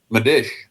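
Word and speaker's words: Medić: How do you pronounce it, Roy? Madish. Madish. Madish. Arus Medish.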